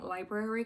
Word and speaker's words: library: I need narrators to start pronouncing Library correctly just because the r is not silent and a narrator um